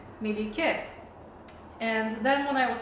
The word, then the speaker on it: Melike: name and over time they started calling me Malik and at the time I really resented this pronunciation because at least the constants are correct but nothing else is but I was